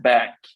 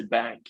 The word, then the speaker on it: BANCC: Yeah, we pronounce it bank. I say bank. You can call it bank or however.